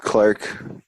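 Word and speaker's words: Clarke: That so my name is pronounced Clark. Yeah. Clarka. It's a tough one. Is that Clarka or Clarky? Just Clark.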